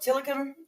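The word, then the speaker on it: Tilikum: Yes, that whale, Tillicum, is how they say it.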